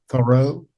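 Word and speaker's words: Thoreau: Thorough.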